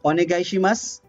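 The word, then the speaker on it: お願いします: the voice vowel dot e and u are omitted reduced l or whispered okay so in this example so u is omitted you will write it with you but you will speak it without you without uh okay and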